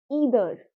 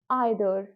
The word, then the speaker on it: either: ठीक है आइर फाइन अगर मैं इसको ब्रिटिश की तरह प्रोनाउंस करूं जैसे ब्रिटिश लोग बोलते हैं वो बोलेंगे ईदर इदर इदर अमेरिकंस कैसे बोलेंगे आइ दर आइ दर आइ दर ब्रिटिश इदर इदर इधर ग्रेट तो अगर आप